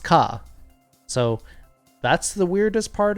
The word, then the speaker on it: ヶ: And it looks like a ke, but it's pronounced ka.